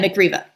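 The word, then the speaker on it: Mick Riva: Now you did manage to incorporate rock stars, of course, because always incorporate a little bit of, is it pronounced McRiva or McRiva? Yeah, McRiva.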